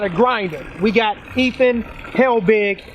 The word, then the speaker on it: Helbig: We got Ethan Helbig, right? That's how you pronounce it?